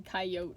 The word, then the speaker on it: coyote: else like a coyote spelled like c a i dash y-o-t-e kai it's supposed to be coyote i think because i've heard some people say it like that like without the last e uh jessie gives him